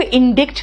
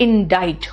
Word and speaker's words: indict: ठीक है, अब ये बेटा ये वर्ड को इंडिक्ट नहीं करते हैं, कहते हैं इसमें सी साइलेंट है और आई का प्रोनाउंसिएशन आई है। इट is called इंडाइट। What is इंडाइट?